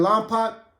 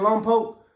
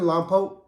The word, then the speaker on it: Lompoc: man he was in Long pot Long Poke just to make I know I've been saying it wrong the whole time but he was actually hey was you in lone poke I said yeah I